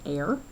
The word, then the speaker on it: are: looks like it's the word r but it's pronounced air this is the hectare those are again units